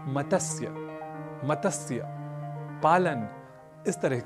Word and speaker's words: मत्स्य: स्वर वर्ण नहीं है इसलिए मतस्य कहना तो अशुद्ध है हमें इसका उच्चारण करना चाहिए मत्स्य और संस्कृत में मत्स्य